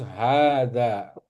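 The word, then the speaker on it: هذا: Tapi kita tetap bacanya harus hadza ya. Jadi harus dua harakat.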